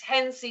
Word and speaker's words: Hensey: It's Hensey is how it's listed. H-E-N-S-E-Y. Your mic is enabled. Hello. Yes, you did pronounce that correctly.